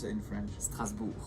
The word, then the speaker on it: Strasbourg: How do you pronounce it in French? Strasbourg. Strasbourg.